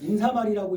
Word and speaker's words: 인사말: 왜냐면 인사말이라고 읽는다예요. 발음이 그냥 인사말이기 때문에 이거는 그래서 기억을 하라고 강조를 해주는 게 이거야.